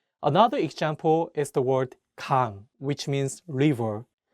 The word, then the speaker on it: 강: Another example is the word 강, which means river. Please note that in this case, the ieung is at the end, so the word 강 ends with an ng sound.